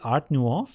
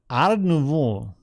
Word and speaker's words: Art Nouveau: You say, do you say Art Nouveau? I don't know. Art Nouveau, yes. I don't know. Is this the way you pronounce that? Ah. Art Nouveau. Art Nouveau.